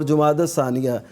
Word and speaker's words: جمادی الثانیہ: دوسرے کو کہتے ہیں جمادی الثانیہ. عام طور پہ جمادی الاول جمادی الثانی جو کہا جاتا ہے, یہ اس کا تلفظ ٹھیک اصل جو آپ فرما رہے ہیں جمادی الاول اولا جمادی